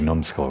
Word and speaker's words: numbskull: looking like a big numbskull right now. I could have sworn it was numbskull with a B, like numb. I guess the B is silent, but still.